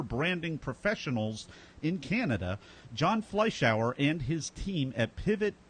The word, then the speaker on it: Fleischauer: Fleisch to Think of a fly in the shower.